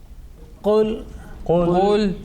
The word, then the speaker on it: قل: Qul. Okay, so making sure between that kul, kaf and qaf. Qaf is a thick, okay, and that kaf is a thin.